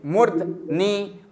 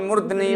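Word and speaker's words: मूर्धनि: मुर्धनी मुर्धनी मुर्धनी मुर्धनी और हो जाएगा क्या उच्चारण होगा बस मुर्धनी होता है लेकिन ज्यादातर लोग उच्चारण इसका कर देते हैं ये उच्चारण किसका कर देते हैं मूर्धन लेकिन मूर्धन है ही नहीं हां मूर्धनी रूप होता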